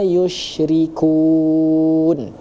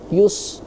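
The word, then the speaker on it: يُشْرِكُون: Nah, subhanallahi amma yusyrikun. Di situ kita menggunakan huruf sya ya. Tadi terdengar yus ya, terdengar dibaca oleh ananda tadi yusrikun bukan lari ke huruf sya ya.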